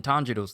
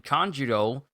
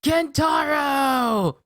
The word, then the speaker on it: Tanjiro: And then Tanjiro, because the father pretty much used the tree like a giant baseball bat, knocks Tanjiro into the air, with Inosuke mispronouncing his name again, calling him Kentaro!